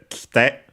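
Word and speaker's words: 来て: So it becomes kite with the e barely heard if at all because it's between unvoiced consonants. And so usually the accent also moves on the on the other syllables, on the te, kite.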